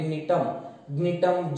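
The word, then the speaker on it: Gnetum: वैसे नीटोप्सिडा, अभी नीटम, जी को साइलेंट रखो, जी को जोर से प्रोनाउंस मत करो, साइलेंट है.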